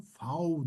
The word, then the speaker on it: V: Biz bu harfi gördüğümüzde V deriz ama Almanlar fav diyor.